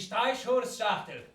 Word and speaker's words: Streichholzschachtel: Ah, ce faisant, est-ce que vous savez comment se prononce boîte d'allumettes en allemand? Non. Eh bien, cela se dit Streichholzschachtel.